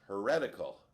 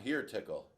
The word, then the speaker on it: Heretical: It should be pronounced heretical, the 5-horse. It's not here tickle. It's like you say that to your kid or something.